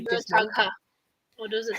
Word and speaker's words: Murtagh: It says Murtagh is pronounced Mur, and then it says tag. Then it says Mur rhymes with per.